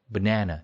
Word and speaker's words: banana: 이거를 banana 두 번째 음절에 강사했잖아요. 그렇죠? 그래서 앞에 아가 아니고 어처럼 돼서 버가 되고요. banana, banana 이렇게 발음이 됩니다.